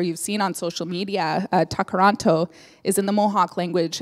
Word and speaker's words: Tkarón:to: they'll correct me later but you spell you pronounce it Gard Indo so the T's and the Khazar much differently